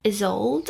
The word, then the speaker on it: Isold: The book is about a girl named Isold, I think is how you say it. Isold. There's like a pronunciation guide at the start of the book, so I'll just double check that. Is old. Yeah.